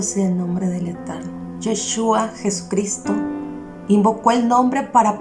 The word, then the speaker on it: Yeshua: mencionar su nombre es Yeshua, pero si le quieres hablar con cariño es Yeshua.